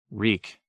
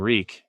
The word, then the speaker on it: Reek: Reek. I'm Reek. It rhymes with reek.